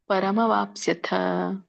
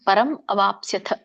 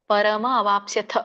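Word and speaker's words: ಪರಮವಾಪ್ಸ್ಯಥ: ಪರಂ ಅವಾಪ್ಸ್ಯತ ಪರಮ ಅವಾಪ್ಸ್ಯತ ಅನ್ಬೇಡಿ ನಾವು ಯಾವಾಗಲೂ ಕೂಡ ಅಲ್ಲಿ ಅ ಹಚ್ಚುವಾಗ ಹಿಂದಿನ ಪದ ವ್ಯಂಜನ ಆಗಿಬಿಡುತ್ತೆ ಹಿಂದಿನ ಪದ ವ್ಯಂಜನ ಆದ್ರೆ ಮುಂದಿನ ಪದ ಅಚ್ಚುತ್ತೇವೆ ಸೋ ಸಪೋಸ್ ಒಂದುವೇಳೆ ಹಿಂದಿನ ಪದ ವ್ಯಂಜನ ಇರಲಿಲ್ಲ ಅಂದ್ರೆ ಮುಂದಿನ ಪದ ಅ ಬರಲ್ಲ ಪರಮ ವಾಪ್ಸ್ಯತ ಪರಮ ವಾಪ್ಸ್ಯತ ಪಕ್ಕೆ ಸವತ್ತಿದೆ ಯವತ್ತಿದೆ ವಾಪ್ಸ್ಯತ ಸೋ ನೋಡಿ ನೀವು ಹೇಳ್ತೀರಾ ಪರಂ ಅವಾಪ್ಸ್ಯತ್ ಹೇಳಬೇಕು ಒಂದು ಇಲ್ಲಅಂದ್ರೆ ಪರಮವಾಪ್ಸ್ಯತ್ ಕೂಡಿ ಹೇಳಬೇಕು ಇನ್ನೊಂದು ಎರಡು ತರ ಹೇಳಬಹುದು ಸ ಇದರ ಅರ್ಥ ನೋಡೋದಾದರೆ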